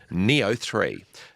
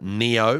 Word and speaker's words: Nioh: No relation to Neopets. It's spelled Nioh. Uh it's a PlayStation game. Uh, Neo when it came out